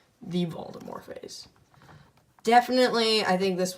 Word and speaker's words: Voldemort: Not Lord Voldemort. T silent. Don't kill me in the comments for it. It is the official way to pronounce it. Lord Voldemort.